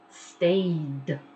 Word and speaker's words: stayed: Stayed. Stayed. Sounds like a D in the end. You don't pronounce the E, just the D.